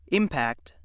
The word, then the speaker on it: impact: Which pronunciation you use depends on how the word functions in a sentence. Let's see how this works. If word 6 is being used as a noun, meaning the striking of one object against another, or the shock caused by a collision, it is pronounced impact.